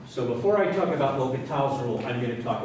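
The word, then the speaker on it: L'Hôpital: and it's known as, my best French accent, Lopital's rule. And since all over the internet and math books, they spell it two different ways, I guess there's a silent S here.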